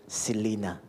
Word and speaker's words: Xyllena: Pronunciation na po, Selena.